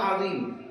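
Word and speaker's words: عظيم: য ইয়া মিম আযীম, এই য এর মাখরাজ হলো, এর উচ্চারণ স্থান হলো জিহ্বার আগা, উপরের দাঁতের আগা, লি লি এভাবে উচ্চারণ হবে।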